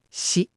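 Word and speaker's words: し: She not c. It's she like she.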